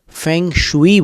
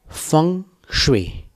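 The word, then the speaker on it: feng shui: चीनी पद्धति फं स्वे जिसकी अंग्रेजी स्पेलिंग को देखकर भारतवासी फै शुई बोलते हैं जबकि चाइना में उसको चीन देश में फवे बोला जाता है फंग श और अब आप उस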